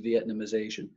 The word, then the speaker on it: Vietnamization: the way that word is spelled and it's pronounced Vietnamization and the whole concept for that is this